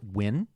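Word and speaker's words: Nguyen: I see the Vietnamese name that is is pronounced win yeah ngu I know but I had so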